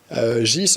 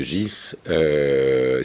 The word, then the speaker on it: GYS: à l'époque jce et quand on est en allemagne le y se prononce plus donc ça se prononce gus et aux etats unis